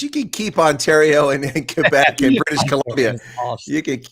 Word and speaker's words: Quebec: know if we take Quebec will be bilingual well you're going to have to say it correctly first it's not Quebec it's Quebec quec yeah I know but